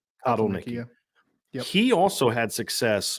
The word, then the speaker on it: Kotelnicki: Kotelnicki. Kotelnicki.